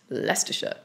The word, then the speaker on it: Leicestershire: For example, take Leicestershire, which is actually pronounced Leicestershire.